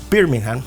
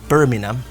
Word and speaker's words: Birmingham: con la ciudad de Birmingham no bueno se dice Birmingham pero la gente lo pronuncia como Birmingham Okay pero se llama Birmingham 1838 en 1841 Londres